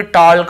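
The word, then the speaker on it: talk: ऐसे पढ़ कहीं पर भी टॉक वाल्क चालक यल्क फॉल्क नहीं पढ़ रहे लेकिन येय गलत बोल र उसको ध्यान में रखेंगे ना नहीं पढ़ना है क्योंकि के के पहले एल है एल है तो एल को मैंने टिक नहीं किया क्योंकि उसे नहीं पढ़ना है केवल टॉक वक चॉक कक ऐसे पढ़ना के वाला भी वही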